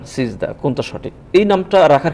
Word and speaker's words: সিজদা: তো উচ্চারণের ক্ষেত্রে সেজদা হবে না সেজদা হবে না সিজদা হবে, এখানে